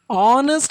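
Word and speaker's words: honest: ஆனஸ்ட் அப்படின்ற வேர்டில் H silent, அதை நாம் ப்ரொனவுன்ஸ் பண்ணக்கூடாது. அந்த ஹெச்சை விட்டுட்டு ப்ரொனவுன்ஸ் பண்ணோம், உச்சரித்தோம் அப்படின்னா ஆனஸ்ட் ஓலிருந்து தான் நமக்கு ஸ்டார்ட் ஆகும்.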